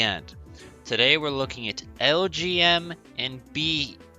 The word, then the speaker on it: Elgyem: I never like these names, but they actually have a cool origin because it's literally the letters LGM as in Little Green Monsters and BEM as in Bug-Eyed Monsters.